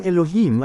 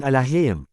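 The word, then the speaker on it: אלוהים: Ang Elohim ay naging alahim dahil ang Hebrew vowel letter na yod ay nilagyan ng vowel a sound. Kaya lumayo ito sa tamang bigkas.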